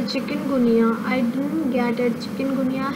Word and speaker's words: chikungunya: Chikungunya has nothing to do with the chicken.